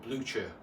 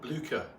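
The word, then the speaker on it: Blücher: the command of Marshall Blucher or Bluca depending on how you pronounce it.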